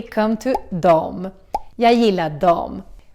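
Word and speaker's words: dem: "Jag gillar dom." Which is the Swedish word for them, but it's also pronounced as dom. Just like the Swedish they, which was also dom. So, remember dom dom dom dom dom.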